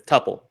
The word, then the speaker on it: tuple: a tuple or tuple it's tuple okay no i on this hill there you go definitive answer yeah like quintuple perfect alrighty well give